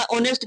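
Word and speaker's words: honest: उच्चारण आ रहा ना, तो अ आएगा तो क्या लगाएंगे? इसलिए एन लगा। एन लगा ऑनेस्ट के लिए या बॉय के लिए?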